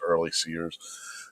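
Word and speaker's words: Earle-Sears: Early Sears, yeah, I mispronounced it earlier. It's early seers said in a statement, "My opponent Abigail Spanberger urges her supporters to fill their hearts with violent hate.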